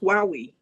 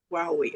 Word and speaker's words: Huawei: That's when I got employed by Huawei. Yeah, in Oh, 2022. okay. Yeah, It's pronounced Wowie. Yep. Huawei. Yeah, Wowie.